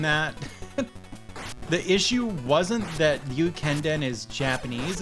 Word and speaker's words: Ryukenden: The issue wasn't that Ryukenden is Japanese, it's that it has the RYU glide, which is difficult to pronounce.